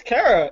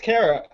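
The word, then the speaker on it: Kara: only cat who mispronounced it no it's it's Cara it's pronounced Cara at least from what I've heard in every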